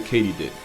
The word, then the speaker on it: katydid: Also, they're not actually crickets, they're a subfamily of the katydid, which is apparently how you pronounce it. Not only was I wrong, but I said it wrong confidently.